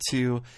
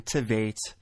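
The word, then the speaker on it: Tveit: back to me I I compared Mike Kalinowski to a lesser known actor by the name of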